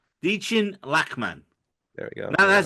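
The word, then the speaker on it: Dichen Lachman: round of applause for the amazing performance of dein lman in this episode who's that Miss Casey good God Jose sorry the way you pronounce names just throws me off so much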